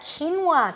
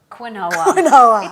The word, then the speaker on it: quinoa: And we're talking about quinoa today, not to be confused with Quinoa.